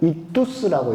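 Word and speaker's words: ΙΧΘΥΣ: 이것을 읽으면 익두스라고 읽어요. 익두스.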